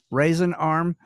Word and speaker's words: Raisin Arm: everything correctly spelled um raisin arm um did i did i pronounce that correctly yes sir you you got it and how is raisin arm spelled as in as in dried grapes r-a-i-s-i-n okay i thought